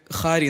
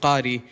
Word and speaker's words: qari: like the word qari, I could hear khari instead of qari.